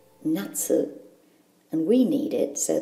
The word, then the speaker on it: 夏: Ki for summer in this video tutorial it's pronounced nut and we need it so that we can